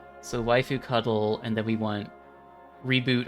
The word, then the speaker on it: waifud: log message oh yes it is intentionally supposed to be pronounced waifu cuddle that is the official pronunciation of the term um javascript refresh page